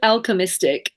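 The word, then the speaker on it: Alchymystic: you're so Gorge um it's called alchemistic and um but it's spelled in the oldie worldly Alchemy so a l c h y m y s t i c so Al oh I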